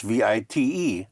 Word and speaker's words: vite: How would you pronounce V-I-T-E?